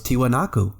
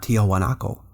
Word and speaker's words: Tiwanaku: He studied the Aymará language and showed that the correct pronunciation was ‘Tiwanaku,’ not ‘Tiahuanaco’, as had been thought since the sixteenth century.